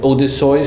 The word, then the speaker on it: Odysseus: Germans would say Odysseus.